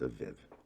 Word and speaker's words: Abib: And going on to Exodus 13:4, it does name the first month of the year as Abib, pronounced Aviv.